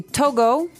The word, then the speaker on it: Togo: So it's Togo. That's the way you pronounce it. Cuz if you look at it, I would say to go, right? But it's not to go, it's togo.